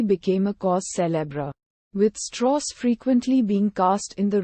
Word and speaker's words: Strauss: even such matters is the unusual southern-based pronunciation of his surname could be perceived as a puzzling artificiality pointedly in a 1997 essay in the New York Times book review commenting on the Oppenheimer matter literary critic Alfred kazana saves dross as one who pronounced his own name straws to make himself sound less Jewish Strauss had been a